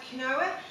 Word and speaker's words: quinoa: I'm a big fan of quinoa, or quinoa, I think it's actually pronounced.